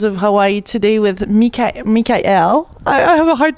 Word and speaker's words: Mikael: really tell us exactly m mik l like a kite or like Kai as in you know the Hawaiian word for ocean beautiful yeah so you